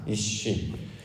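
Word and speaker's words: אִישׁ: 특별히 이제 남자, 여자 개념을 말씀의 개념으로 아니하고 이 진리적 관점을 살펴본다면 성경에서 남자를 뭐라고 부르냐면 이쉬라는 말로 발음을 하여서 부릅니다. 이쉬.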